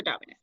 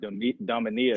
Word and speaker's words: Domina: Am I pronouncing that right? Domina? Yeah, Domina. Yep. That's crazy because this asshole Max was saying Dominia.